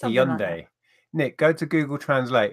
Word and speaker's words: Hyundai: were right he owned a right it's a young day Nick go to google translate its Hyundai this